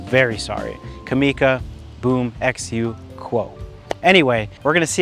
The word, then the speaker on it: Qua: wrong this whole time it is the kamika boom xu quo not quoi you're going to hear me say that later in the video i am very sorry kamika boom xu quo anyway we're going to